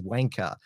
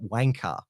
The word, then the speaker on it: wanker: back to the states is wanker or you pronounced it wanker with an A and also admired how